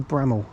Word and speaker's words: Bramhall: I think you say Bramhall. I think that's how you say it. You don't put emphasis on the H.